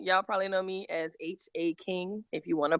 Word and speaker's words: Haking: All right, so no haking it is. Haking rhymes with caking, rhymes with baking, rhymes with taking.